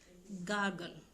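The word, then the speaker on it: gargle: जैसे गागल, गागल, आर इसकी साइलेंट होती है, गागल मीन्स होता है गरारा करना, जैसे जिसको आप पुला करना बोलते हैं, तो गागल्ड, गागल्ड, ठीक है।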